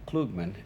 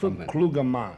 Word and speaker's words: Klugman: out your better half Tony shall we I pronounced your name kugman and you like I always say kugman but the correct pronunciation is kug kugan which is a smart man but are you